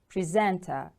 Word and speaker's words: presenter: Presenter. The stress is on the second syllable.